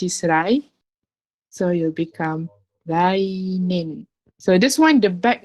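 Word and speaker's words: 来年: Instead of toshi, it'll become nen. Rainen. So this one you have to be careful. Rainen. So it's not rai toshi, it's rainen.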